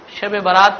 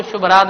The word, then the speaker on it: شب برات: البراءہ کہا جاتا ہو۔ بعض اوقات دیہات میں لوگ صحیح طور سے تلفظ نہیں کرنے کی وجہ سے شب برات کو شب رات بھی کہتے ہیں، تو یہ شب برات کا کیا ہو گیا؟